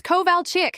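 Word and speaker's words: Kovalchik: It's Koval Chick, she shouted, slamming her hand on the desk. K O V A L C H I K. How hard is that?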